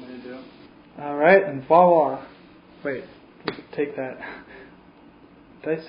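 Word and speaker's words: voilà: You said voila instead of voila? No. Voila. No, it's voila. Voila? Voila? Voila. Voila. You use a V, but it's pronounced almost like a W.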